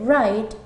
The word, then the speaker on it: write: Y luego la W, como en el caso de escribir, que se dice write, teniendo en cuenta que comienza con una W pero omitimos el sonido.